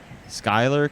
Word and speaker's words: Schuyler: So I just learned the way they pronounce it is Schuyler County.